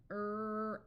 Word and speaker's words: graph: five important site words pH has the sound of f f f here's a name R Alf Ralph notice the silent E which we covered in level two lesson five F own phone g a graph F A phas this